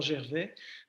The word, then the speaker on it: Gervais: I'm going to say Gervais because I speak French.